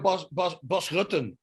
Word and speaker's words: Bas Rutten: It's the same with Bas Rutten. That's official. That's how you pronounce it. It doesn't sound as cool as here. Bas Rutten.